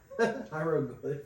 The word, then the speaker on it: hieroglyphics: Hieroglyphics.